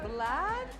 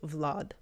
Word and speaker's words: Vlad: So it's like long and more open. So Vlad versus in Russian we would say Vlad Vlad. Fun fact, the actor who plays Vlad is a Russian actor Yuri Kaknikov. He plays this guy in Game of Thrones and also played in a bunch of funny Russian movies. Lori Jaclyn. Hi, I'm I'm Kate. Listen again how she says Vlad and then he said Vlad Vlog. So it's more closed vlog.